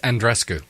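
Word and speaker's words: Andreescu: One exciting thing, I know we're going off of the football side, but shout out to Andriescu. Did I say it right? Andrescu? Apparently, she says Andrescu.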